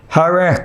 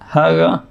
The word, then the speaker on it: Hare: They can't pronounce the R, the letter R. तो जो Chinese हैं वो आर जो रे र है उसका उच्चारण नहीं कर पाते. हले हले बोलते हैं वो.